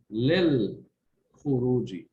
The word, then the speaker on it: للخروج: In this case, the lam is pronounced. The lam of the alif lam is pronounced because the kha is not a sun letter. So therefore, we would say للخروج.